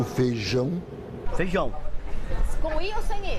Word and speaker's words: feijão: A gente engole o I, né? Em muitas regiões, a vogal I, quando está com outra, desaparece. Eles falam que mineiro fala muito vogais juntos.